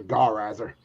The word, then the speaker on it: Gar Riser: Like Gaul, like the old French? Oh no, not Gaul. All Riser, Gar Riser.